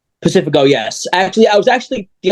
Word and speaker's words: Pacifico: Did I pronounce the last name right? Pacifico, yes.